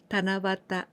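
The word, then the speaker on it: 七夕: And this way of pronunciation is very unique. And only this one, like Tana here, 7, and you, 7 evening, but we pronounce Tanabata.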